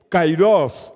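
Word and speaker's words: καιρός: antes é e nem depois o Kairós em pronunciada em grego Kairós essa é a palavra usada e para um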